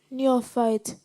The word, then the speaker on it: neophyte: Neophyte. Am I pronouncing it correctly?